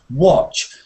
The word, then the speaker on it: watch: Watch. Watch. It's the same as dog.